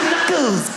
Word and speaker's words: knuckles: Of all the letters, why would a K BE SILENT? KNICKERS. WHY IS it knuckles?